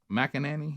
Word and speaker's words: McEnany: McEnany, is that how you say her name?